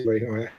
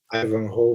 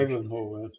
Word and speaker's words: Ivanhoe: quando eu era criança eu chamava Ivanhoé, e eu ainda continuo falando Ivanhoé, mas obviamente não pronuncio Ivanhoé. Ivanhoe, imagino que seja. Ivanhoe, E ele tem o